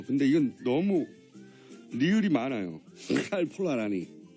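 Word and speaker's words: Karl Polanyi: 이건 너무 리을이 많아요 칼폴라니 폴라라 아니라 라니라 원래 영어 잘하잖아요 외신들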